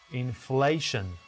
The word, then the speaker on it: inflation: Which syllable should be stressed? The second syllable, inflation, both American and British.